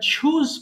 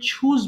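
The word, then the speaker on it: choose: Basically we pronounce this word চ, বাট চ is wrong pronunciation, it should be ছ। এটা অবশ্যই ছ হবে, হ্যাঁ। সো চুজ না বলে অবশ্যই এটাকে ছুজ বলবেন।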